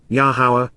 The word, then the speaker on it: Yahowah: Prophetically inquires, Naum, Yahowah, Yahowah, the proper pronunciation of Yehovah, our Eloah, God has directed in his Torah, teaching regarding his Ha-Yer, existence and our Shalom, restoration.